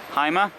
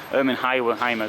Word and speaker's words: Hymer: Bürstner is actually owned by the Hymer group anyway. Hymer group. In German, Y is pronounced as an U.